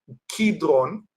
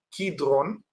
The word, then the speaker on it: Kidron: voy a decir que en hebreo se pronuncia kidron con K de kilo, Kidrón y que ese nombre proviene del de la palabra coder en hebreo que significa oscuridad.